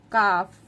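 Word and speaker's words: calf: काफ L silent है।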